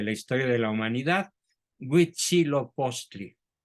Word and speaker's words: Huitzilopochtli: historia de la humanidad, Huitzilopochtli, a quien los españoles denominaron con el nombre de Huichilobos, por no pronunciar bien la palabra Huitzilopochtli.